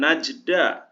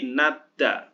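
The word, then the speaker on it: 낮다: berarti gotak dibacanya ya Ini bukan najda tapi nadda karena berubah hurufnya menjadi t kemudian ini juga sama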